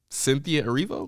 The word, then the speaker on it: Cynthia Erivo: I can pronounce it if you'd like. Come on, let's try it. You can do it. Cynthia Erivo?